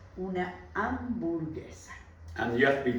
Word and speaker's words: hamburguesa: Don't forget that we don't use the H. The H is silent. Una hamburguesa.